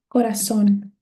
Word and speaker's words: corazón: We have corazón. Okay, corazón. This is a aguda because my stressed syllable is the last one, corazón.